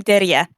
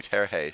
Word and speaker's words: Daria: people who were wondering how the heck do you pronounce my real name hi i'm daria oh interesting i was definitely we definitely were calling you tarahe so now we know